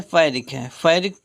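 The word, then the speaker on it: pyrrhic: फायरिक पढ़ते हैं इसको, फायरिक। इसमें वीक होता है, दोनों सिलेबल्स इसमें वीक होते हैं, दोनों सिलेबल्स वीक माने जाते हैं। फिर फायरिक।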